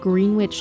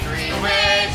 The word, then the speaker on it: Greenwich: We took you back to the small town of Greenwich, New York, where he was allegedly last seen. It's Greenwich, not Greenwich, say it phonetically.